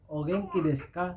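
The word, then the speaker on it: お元気ですか: dihilangkan baik itu di akhir kalimat maupun di tengah-tengah maka umumnya dihilangkan jadi dibaca dengan ogenki desuka bicara oke untuk selanjutnya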